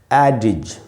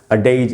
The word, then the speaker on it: adage: इस वर्ड का उच्चारण है एडिज, जो कि देखने में तो अडेज ऐसे टाइप से लग रहा है, लेकिन असल में उच्चारण है एडिज।